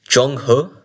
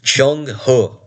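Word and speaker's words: Zheng He: It I think it would be pronounced something like Jung Hu or Jong Hur. Jungur. No, no hard R, by the way.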